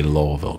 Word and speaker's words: Louisville: Louisville Slugger but I'm not going to say lville cuz I'm not from there and it just